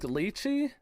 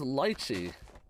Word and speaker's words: lychee: Dude, I used to say like lychee, and then everyone says lychee.